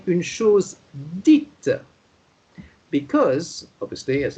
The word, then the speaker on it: dite: Then the T sound comes out when you have the letter E after it. Then it becomes une chose dite. Can you say that, Yzabella? Une chose dite.